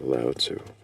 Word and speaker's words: Lao Tzu: I don't know how to pronounce that. Yeah, Lao Tzu.